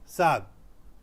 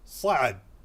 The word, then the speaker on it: صعب: If you say sab, hada sab, this is difficult. This is going to work out. However, the best is to learn the correct pronunciation, which is sa'ab.